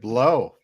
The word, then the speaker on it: Blough: one of it again david blow that's how you pronounce it are you sure